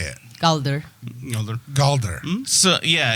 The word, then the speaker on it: Galdrar: Galdrar. No. that's You can say it however you want. So Gabagool. he says Ooh. Galdrar. Have you heard someone from the linguist of that Profession, say it. Galdrar.